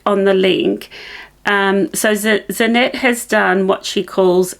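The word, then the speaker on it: Zanete: have talked to you about before and it's zanet nits it's spelled z a n e t e um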